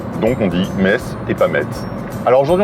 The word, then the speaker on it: Metz: abandonné, et du coup, il va être remplacé par un truc qui lui ressemble plus ou moins, qui était le TZ, mais qui se prononcera S. Donc on dit Metz et pas Metz.